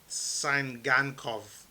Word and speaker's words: Tsygankov: his name but victor sangankov i believe the t is silent um but it's t-s-y-g-a-n-k-o-v